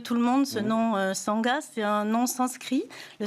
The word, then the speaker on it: Sangha: êtes la fondatrice de Sanga hôel ça s'écrit S a NG ça se prononce Sanga ça veut dire quoi